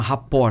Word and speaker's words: rapport: aprende lá em 2004 um termo que chama rapport é um terror francês Raptor chama escreve rapport com dois pesos e tem mundo que